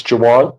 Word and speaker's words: Jawan: Jawan Ruben okay I know I mispronounced it when I read the indictment. It's Jawan.